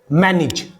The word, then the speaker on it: manage: AGE एंड में है, इससे पहले ने की साउंड है तो ने की साउंड पे लग जाएगी ई की मात्रा। मैनेज, note मैनेज, मैनेज, मैनेज।